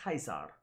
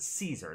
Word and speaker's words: Caesar: That classical Latin pronunciation would have been Kaiser. So they would not have pronounced it Caesar. That's a pronunciation that, again, comes from later historians going back and saying, okay, his name is Caesar.